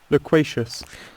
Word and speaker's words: loquacious: Loquacious. লোকোশিয়াস আমার জন্য উচ্চারণ করা একটু টাফ।